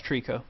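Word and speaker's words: Treecko: I mean, other than Bulbasaur, the only real grass type that I've ever liked was do you pronounce it Trico? Yeah, it's Trico.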